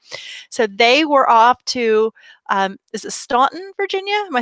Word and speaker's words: Staunton: they were off to Staunton Virginia am I saying it right well that's I go but they pronounced in Stanton and the lady the relative that they visit pronounced Stanton - okay all right